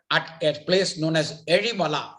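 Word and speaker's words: Ezhimala: which is there at a place known as erimala it's called erimala that's how you pronounce it it's in the canon district in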